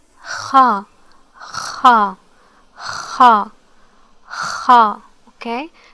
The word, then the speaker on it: خ: Okay, so it's kha, kha, kha, kha. Okay, imagine that you are trying to spit or something, clearing your throat.